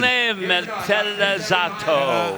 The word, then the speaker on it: Marrone Metallizzato: Is it Marron Metallic? I wish I could give the Italian pronunciation. Marrone Metallizzato. I'm pretty close.